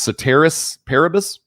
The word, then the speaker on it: ceteris paribus: The same changes may result from consumption of diets which have, I believe that's pronounced ceteris paribus, or what that means is all other things